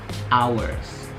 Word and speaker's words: hours: Sama kayak jam, masih banyak yang kayak hour gitu kan. Padahal kayak misalnya 24 hours, 3 hours a day, hours. Jadi nggak dibaca huruf H-nya, H-nya tidak dibunyikan.